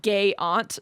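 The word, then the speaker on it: Gaiant: And and they say uh I'd like to imagine this is pronounced gay aunt.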